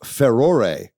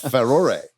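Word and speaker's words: Farore: as I can tell, this is the correct pronunciation of Ferore, uh, as the goddess from the Zelda series. I've never known exactly how to pronounce her name. Uh, but Ferore, there you go.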